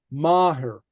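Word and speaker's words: máthair: family right so anyway Maher Mah Mah okay so notice the uh the th is silent okay Mah n n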